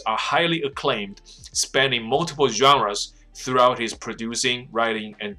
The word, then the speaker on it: genre: whose groundbreaking films are highly acclaimed, spanning multiple genres throughout his producing, writing, and directing career。所以这是 BAFTA